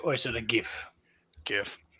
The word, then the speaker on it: GIF: GIF. I say GIF. Oh yes. Because the G There stands for we go. graphic, right? Graphic is a hard G.